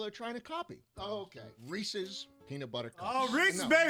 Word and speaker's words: Reese's: Reese's peanut butter cups.